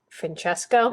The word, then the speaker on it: Francesco: his real name was I said the name wrong and people corrected me I did it like a Spanish pronunciation but it's like they said it's Francesco yeah Francesca uh well